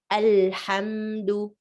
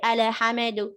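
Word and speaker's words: الحمد: be properly pronounced like al hamdu don't say ale hamedu do not bounce and do not go too fast alhamdu alhamdulillah and many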